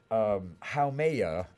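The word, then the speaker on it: Haumea: you all to yeah it's pronounced how maiya a che you MEA it's a draug planet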